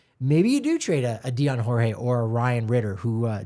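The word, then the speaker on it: Dyan Jorge: could we see uh Dion Jorge that's the pronunciation Dion Jorge it I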